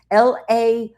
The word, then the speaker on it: Lao Tzu: It's called The Complete Works of Lao Tzu, and that's Laotsu or Tzu. It's spelled different ways.